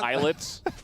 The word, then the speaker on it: ILLIT: Eyelet. Eyelet. It's written Illit, yeah, but it's pronounced I was Eyelet. told it was Illit at first by someone.